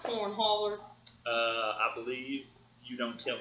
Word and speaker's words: Cornhauler: I believe it's pronounced Cornhauler.